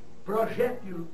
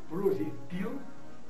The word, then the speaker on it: projétil: Esse substantivo integra o numeroso grupo de substantivos da língua portuguesa que apresentam dupla prosódia, ou seja, dupla pronúncia. Tá claro? Então vamos aproveitar e listar alguns aqui. Nós temos Oceânia ou o Oceania, Balcans ou Balcãs, homíia ou homilia, hieróglifo ou hieroglifo, projétil ou projetil, réptil ou reptil, né?